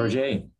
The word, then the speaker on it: Roget: Am I pronouncing that correctly? Roget.